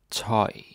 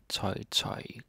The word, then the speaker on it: tøj: Toy. Toy. Tøj, clothes.